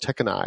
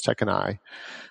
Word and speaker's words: Tekinay: confuse some people uh my last name is pronounced tekkenai it's a Turkish name and ay is pronounced I in uh in uh in Turkish and I've Americanized a little bit by stressing the eye a little bit so it's Tech and I and it's like take